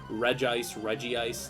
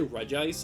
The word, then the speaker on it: Regice: Like if you call it like Regice, like I say Regice, and I think that's technically the correct way